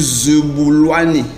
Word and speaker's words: Zebulwani: En Zoulou, c'est pratiquement la même chose. On dit Zebulwani. Donc, il y a un peu ce petit changement dans la prononciation.